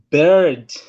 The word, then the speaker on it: bird: Saka you should say like bird.